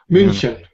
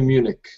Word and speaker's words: München: In English, we say Munich. Munich. Yeah. How do you say in Russian, München? München. Like the German. Like a German, yes. And the second letter, not U, but U umlaut with 2 points.